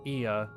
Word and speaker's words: Ea: When the vibration of vocal cords is still required to convey our thoughts and intentions, Ia, I believe, was the pronunciation used when referring to our people.